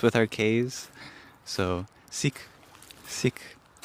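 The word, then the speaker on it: Sikh: So is uh is it pronounced sik? Yes, essentially. Yeah. S I kh is how we render it in English. And it's a it's a short e.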